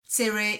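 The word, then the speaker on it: צירה: However, in Ashkenazi Hebrew, they are distinct, where segol is pronounced e, tzere is pronounced a.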